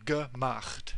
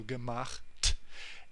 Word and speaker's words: gemacht: And this is pronounceable, so gemacht. We're moving from the ch at the end, at the back of your mouth, towards the t, which is pronounced at the front of your mouth, so gemacht.